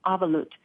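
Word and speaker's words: אבלות: Is it avalut? Yes, you said it just right. It's a Jewish term. Well, it's from the Jewish tradition. It's a Hebrew term, avalut.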